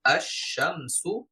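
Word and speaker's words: الشمس: কারণ লাম আছে সাথে তবে এই লামটা উচ্চারণ ছাড়াই আমরা পরবর্তী হরফকে যুক্ত যেমন আশশামসু আর রহমানু আনুর আস সামা অর্থাৎ আমরা বুঝতে পারলাম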